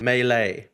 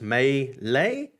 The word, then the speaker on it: melee: You can just go full melee. Melee. I can never say it properly. Blogsy corrected me. It's melee? Melee. Melee.